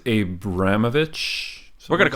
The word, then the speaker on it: Abramovich: I think it's Abramovich.